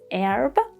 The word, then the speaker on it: herb: In American pronunciation, the first h is silent. It is herb.